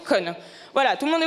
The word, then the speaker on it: Kon: Non mais je savais très bien, hein, ça s'écrit K-O-N. Mais ça se prononce Con.